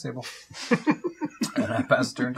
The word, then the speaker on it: Sable: I believe it's pronounced Sabal. Nope, it's sable.